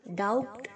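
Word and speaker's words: doubt: या शक करना डाउट्स डाउट एक बी साइलेंट है बच्चों तो डाउट नहीं बोलेंगे आप आप बोलेंगे डाउट ओके दंगल दंगल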